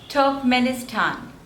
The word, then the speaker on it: Turkmenistan: is on the first one turkey next is Turkmenistan Turkmenistan and the stress is again on the third syllable top manistan Turkmenistan Turkmenistan Turkmenistan Turkmenistan next